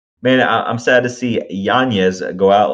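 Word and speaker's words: Yáñez: And then in the bantamweight division, Jonathan Martinez, nasty leg case on Adrian Yanez. Apparently that's how you pronounce his last name.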